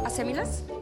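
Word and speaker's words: acémilas: Asémilas. Y acento en la Asémilas. ¿En la E?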